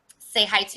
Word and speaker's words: Tsehaitu: hawaii big sister um say hi to is how you say my name say hi to i've